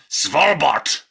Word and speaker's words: Svalbard: Svalbard.